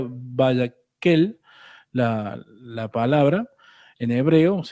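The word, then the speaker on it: Vayakhel: Eh, si no me equivoco, se pronuncia Vayakel, la palabra, en hebreo,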